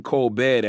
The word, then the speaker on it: Colbert: jump by criss cross he pronounced his name Kolbert not the French pronunciation coalbed a Steven users today